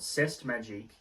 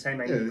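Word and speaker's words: C'est Magique: It's not Cest Magique. It's. I'm pretty sure it's Say Magique or something like that.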